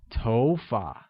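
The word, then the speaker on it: 头发: like go good hair translates as TOFA and carries a mid rising tone on Oh making it TOFA great now let's learn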